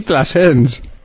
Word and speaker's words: Plasens: Y Plasens. No sabía que se llamaba usted y Plasens. ¿Cómo se escribe? ¿Plasense? Es como Planchés. Plasens. Sí. Eso es francés, ¿no? Es catalán. Pero no es francés.